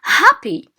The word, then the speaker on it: happy: So we have, for instance, happy. Happy is stressed on the first syllable.